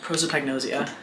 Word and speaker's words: prosopagnosia: Prosopagnosia.